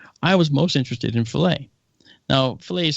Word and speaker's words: Philae: I was most interested in Philae. Now, Philae is spelled Philae, okay? Go figure. But the Philae lander, not like fillet of fish, but Philae lander, was a lander that